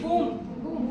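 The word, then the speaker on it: womb: B is silent. Okay, it is boom.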